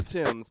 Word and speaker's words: Thames: never make no frowns located across the River Thames but it's spelled like teams that was forgiven I mispronounced it a lot when I first went to London I'm the London Bridge